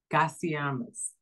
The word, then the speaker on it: Gasiamis: Toni Hickman 01:33 Gasiamis. Toni Hickman 01:35 Gasiamis.